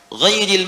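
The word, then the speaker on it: غيرِ: Ghairil maghdubi alaihim waladdallin. Qara'al jumhuru ghairi bil jar. Mayoritas ahli qiraat membacanya menggunakan kasrah, ghairi, i.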